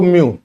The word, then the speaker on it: म्यू: म्यू μ pronounce करते हैं।